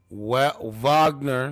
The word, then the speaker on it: Wagner: So Putin's planning to use Wagner, that's how you say it, Wagner fighters to